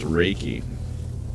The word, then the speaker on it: Reiki: This is for a Reiki company, or sorry, Reiki. It is pronounced Reiki.